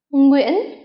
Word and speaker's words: Nguyễn: Sau đây là cách đọc một vài họ hay gặp trong tiếng Việt. Uyên, Nguyên, Nguyễn.